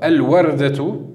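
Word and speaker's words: الوردة: Alors, al-wardatu, al-warda, donc rappelez-vous, hein, si on s'arrête, la dernière lettre tamarbuta, si on s'arrête dessus, on le prononce comme si c'était un ha.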